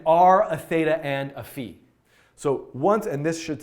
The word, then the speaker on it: phi: Greek letter fee correctly I know some people say five but I think it's actually fee so great I'm gonna